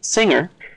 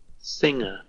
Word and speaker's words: singer: Okay, now this one, singer, is a little different. Singer. Singer. No G. The G is visually present, but not acoustically.